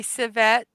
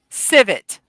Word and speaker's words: civet: Let me listen. Civet. Okay, I was close. Civet.